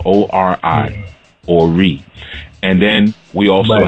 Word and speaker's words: Ori: One of the consciousness that were created was called Ori, which is spelled O-R-I, Ori.